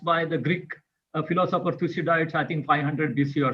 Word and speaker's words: Thucydides: called the tusi diet strap which was uh pronounced by the greek philosopher thucydides i think 500 bc or something that there